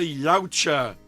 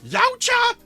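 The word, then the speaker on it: Yautja: from last week, the species of the predator is called a yaoucher. I'm not going to spell it out to you cuz I forgot how. I know it starts with a Y. It ends with an A. And no, it's not Yaucha.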